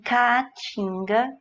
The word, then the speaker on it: caatinga: E caatinga, caatinga, também nós temos um hiato.